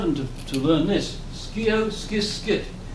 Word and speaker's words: scio: Scio, scis, scit. If you use the the Latin or the Roman pronunciation, shio, shis, So,